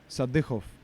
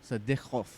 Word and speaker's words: Sadykhov: What's the actual pronunciation? Sadykhov. Sadykhov.